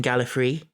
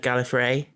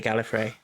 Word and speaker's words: Gallifrey: I think Tom Baker was quite well known for his playful pronunciations of things, and I seem to remember him saying Gallifrey instead of Gallifrey, but other Doctors all say Gallifrey.